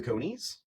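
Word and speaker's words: Coneys: Stu the Conies, which rhymes with pony.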